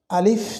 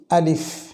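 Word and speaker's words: ألف: আছে আমরা ভালোভাবে চিনি আলিফ আমরা এই উচ্চারণটিতে ছোট্ট একটি ভুল কেউ কেউ করে থাকি সেটা হচ্ছে আমরা আলিফ বলি সরে লইহিস প এটি সম্পূর্ণ ভুল উচ্চারণটা হবে আলিফ স্বরে লহিস ফ আলিফ তাছাড়া এখানে আর কোন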